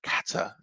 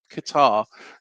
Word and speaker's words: Qatar: Kata, you know Qatar. Yeah. Sorry for anybody in Qatar who is watching um and yeah is offended by me saying it wrong.